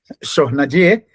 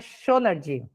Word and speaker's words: Schonard: Eu costumo falar Chornadier, que é francês, mas na verdade ela vai pronunciar da forma correta. Tudo bom, Alessandro? Muito obrigado por esse convite. Na realidade, não é francês, eu acho que ele é alemão, é Schonard.